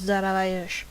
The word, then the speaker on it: Darius: I believe Darius' proper pronunciation of the name was Daravayesh.